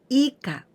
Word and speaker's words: 以下: So we pronounce ika.